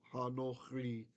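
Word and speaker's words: הנכרי: The reason is, even if we didn't have this, if you know the rule, you don't necessarily need it. See the accent here? This is a closed syllable, meaning it ends with a consonant, and the accent's over here. So when you have a kametz and it's in a closed syllable, and the accent is somewhere else, that kametz is O, kametz katan. So that's why this requires the O.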